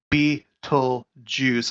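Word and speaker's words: Betelgeuse: put this to rest some people are like no it's not pronounced Beetlejuice pronunciate there we go pronunciation be told Jews oh bam I say bam that's how you say it it's uh and and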